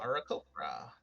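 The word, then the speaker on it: Aarakocra: Arakokra.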